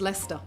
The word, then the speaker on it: Leicester: It's like Leicester. It's also spelled like Leicester. You know what I mean? I don't care but for it. It's just Leicester.